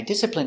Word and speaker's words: discipline: discipline my children I discipline my child when he doesn't behave pronunciation discipline d d is P disip disciple disciple I discipl discipl discipline discipline discipline stress on the first syllable discipline discipline discipline I